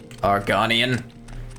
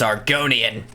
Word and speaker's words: Argonian: the you call me arganian it's Argonian you know they're saying